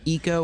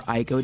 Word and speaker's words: ICO: There are some games which sort of play with janky combat on purpose, like the game Eco or Ieko, depending on how you pronounce it, ICO, which was originally for the PlayStation 2 and then got ported to other PlayStation consoles.